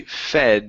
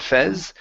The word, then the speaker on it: fed: and warm okay and this is going to be fed instead of Fez fed fed keep or animals fed